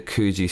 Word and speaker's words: Coogi: I always thought it was Coogie.